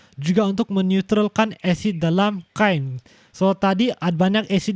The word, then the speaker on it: chyme: So sekarang di dalam perut kamu makanan sudah menjadi separah cecair, dan sekarang dia disebut sebagai chyme. I know it's spelled Kim, tapi you're supposed to spell chyme.